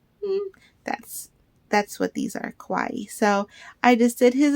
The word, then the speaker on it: kawaii: give me one second Kawaii I had to ask Alyssa okay so how it's spelled is the same as like Hawaii so I always just always said it Kawaii but I'm gonna make